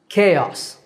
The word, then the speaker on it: chaos: confusion and it's pronounced chaos okay like the letter K and us chaos and our last word